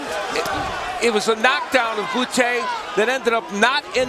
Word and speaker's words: Bute: Chance of bouty already ringing throughout the video center. James Del Gail will have to get used to hearing the first syllable in the name Bouty.